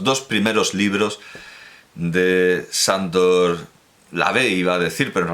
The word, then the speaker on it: LaVey: primeros libros de Sándor Lavey, iba a decir, pero en realidad se llamaba Howard Stanton Levy. Y sí, Lavey, pronunciado a la inglesa, a la americana, Levy, es más parecido a su nombre original, así que llamémoslo Anton